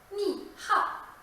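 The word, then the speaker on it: 你好: 请你看，西安话中的声调把一声变成了三声，三声变成了四声，四声变成一声，二声保持不变。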